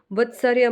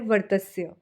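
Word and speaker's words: वर्त्स्य: अब इसका उच्चारण वत्सर्य मत कीजिएगा, इसका सही उच्चारण है वर्तस्य।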